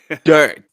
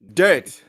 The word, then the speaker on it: Dirt: Dirt. All right, and you have to pronounce the T at the end. Dirt.